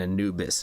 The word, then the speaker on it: Anubis: right screams of Anubis am I saying it right still because it's anab bus anab bus is Anna's new nickname and Anubis is the correct way to say it right okay cool all